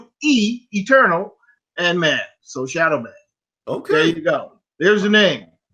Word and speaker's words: Shadoweman: So it's spelled with an E. SHADOWE, eternal, and man. So Shadoweman.